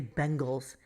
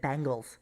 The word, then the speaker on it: Bengals: insane all day today howard could not say bengals he said bangles don't you get it